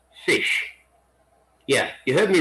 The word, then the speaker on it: ghoti: word can be pronounced fish yeah you heard me right fish you have the gh which is the f sound in words like enough cough you have the o